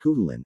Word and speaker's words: Cuchulainn: The Ulster cycle of the Knights of the Red Branch, which treats primarily of the deeds of Cuchulainn pronounced Cuchulainn, at the court of his uncle Conchobar pronounced Conahor.